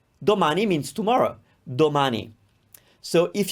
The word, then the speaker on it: domani: we have na ne so if we take the syllable and then the symbol ma and now the syllable ni we can say domani domani means tomorrow domani so